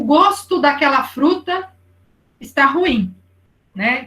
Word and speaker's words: gosto: um pouquinho diferente né porque gosto e gosto o ou aberto e o ou fechado né agora os homônimos que